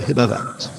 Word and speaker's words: Himavant: I'm opening with the lines, and again I'm using Eliot's pronunciations here.